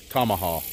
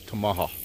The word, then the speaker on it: Tamaha: A lot of Oklahoma folks around here in the local area calls it Tamaha. Guess how you want to pronounce it, but in the proper way of Choctaw is Tamaha.